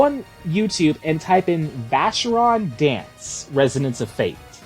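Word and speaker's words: Vashyron: Just go on YouTube and type in Vacheron Dance, Resonance of Fate. Vacheron is spelled Vashhyron.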